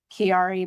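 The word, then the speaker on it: Chiari: It's um Kiari malf for let me spell it for you.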